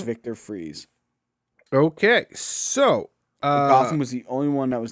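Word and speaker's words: Fries: kilmer arnold schwarzenegger as victor freeze aka mr freeze oh sorry i always loved that it's it's pronounce fry no go yourself it's pronounced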